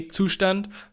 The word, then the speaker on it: Zustand: go ahead by installing two stand first of all which is by the way the German word for state so I'm going to say the German Way Tucson which is probably hard to pronounce for some other people the concept is